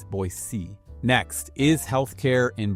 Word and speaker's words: Boise: pronounce Cuna cordelan and boisey so even I say it wrong sometimes it's not Boise it's boc next is healthc care